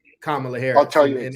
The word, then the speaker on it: Kamala: Kamala, Yeah.